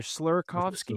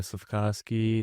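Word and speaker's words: Slafkovský: I didn't recognize anyone other than is it Slavkovsky or Slurakovsky? Slavkovsky, We're talking about, you know who I'm talking about.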